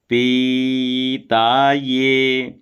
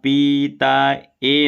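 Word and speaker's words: पीतये: आपो भवंतु पीता ये अब यहां पीता ए नहीं बोलना है पीता ये ये ये इसलिए क्योंकि या में ए की मात्रा है ए बोलेंगे तो केवल ए ण वाला उच्चारण होगा और ये बोलेंगे तो या में एक की मात्रा का उच्चारण होगा तो भवंतु पीता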